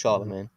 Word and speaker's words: Charlemagne: So, Charlemagne, which means literally Charles the Great, um, was born Oh, on the so it's Charles Magna. yeah, but it's pronounced Charlemagne.